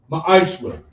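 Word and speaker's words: ma'aser: It means tenth in the Hebrew is pronounced ma'ashra.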